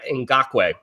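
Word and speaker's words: Ngakoue: Dante Fowler Kleist Campbell Malik Jackson and Yannick and gawk wag that's how you pronounce it you have four guys that are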